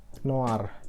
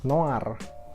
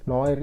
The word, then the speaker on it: Noir: Untuk edisi yang kali ini mereka namain Hard 13 Noir ya, bukan Noir kayak genre film dan lain-lain. Itu Noir, itu bacanya Noir.